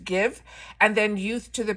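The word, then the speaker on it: GXVE: two Brands it has the Gwen Stefani brand that is I think pronounced give and then youth to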